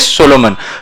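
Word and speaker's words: Salomon: There was another landmark judgement, बेटा ये SALOMAN ही है, I have not made a spelling mistake. सोलोमन usually लिखा जाता है SOLOMON, ठीक है, बट इसमें कैसा है, लोग ने लिखा ऐसा है, स्पेलिंग है, बट इट इज the word is सोलोमन.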